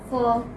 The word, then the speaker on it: for: For. For. Okay. Although you have this ra here, but this is not pronounced.